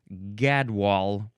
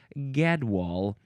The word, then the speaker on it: gadwall: Next is gadwall.